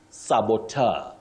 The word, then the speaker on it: saboteur: Betty, you say saboteur. Saboteur. Saboteur, the saboteurs. But remember, you can also say tour, just like rapporteur, rapporteur, and rapporteur.